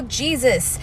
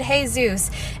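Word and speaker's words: Jesús: Anyway, then he was all like, I know Jesus, you know, the guy on the board. And I was like, I'm pretty sure you pronounce it Jesus.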